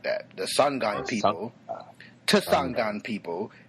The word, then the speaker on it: Tsonga: Tsangan people. It's Tsonga. Tsanga. I know the T is silent, but I like to pronounce it anyway